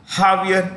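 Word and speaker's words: Javier: r million okay aier J is pronounced with an H in Spanish Brazil well Brazil is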